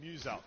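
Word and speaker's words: Muselk: Muse-Elk. So it's like Muse and Elk.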